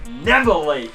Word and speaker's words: Neville: right what's my name taylor ben neville you gotta say it like that never late so it's the